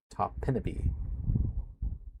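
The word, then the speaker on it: Topinabee: Topinaby is how it's pronounced officially from one of the locals in the area.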